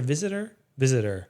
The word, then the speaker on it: Visitor: like she was, I think like even Nana Vister has said that, or is it Vister? Visitor. Yeah. I think is how she pronounces it.